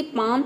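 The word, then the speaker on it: palm: ए को हम यहाँ पे आ प्रोनाउंस करेंगे, और जो यहाँ पे एल लेटर है ये साइलेंट है, ठीक है। एल के बाद अगर एम आ जाता है तो वहाँ पे एल लेटर साइलेंट रहता है, यानी कि हम एल को प्रोनाउंस नहीं करते हैं, ठीक है।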